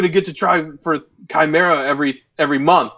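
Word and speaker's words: Chimaera: How do you pronounce the ship again? Chimera.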